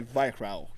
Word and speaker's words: Weihrauch: We're talking about a beautiful piece of German machinery called Western Single Action by Weihrauch. Did I pronounce it right? Yeah, you did. Yeah, because he's German, he's local.